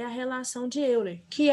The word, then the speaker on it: Euler: Bom, o Leonhard Euler, que seria a pronúncia correta, o E e o U vai ter som de O.